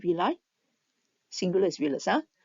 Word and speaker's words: villi: Its internal surface is covered by tiny projections called villi. Singular is villus. Now some people pronounce this as villi. It's also acceptable.